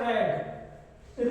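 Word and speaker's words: read: री ये हो जाएगा रेड रीड ही रहेगा केवल रेड पढ़ेंगे स्पेलिंग भी सेम रहेगी इ न्यूजपेपर बीइंग रेड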